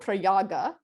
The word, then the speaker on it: Prayag: It was called Prayaga, Prayag in vernacular pronunciation, which means confluence, refers to the confluence of holy rivers there.